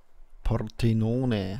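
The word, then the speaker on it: Pordenone: Portenone heißt es richtig.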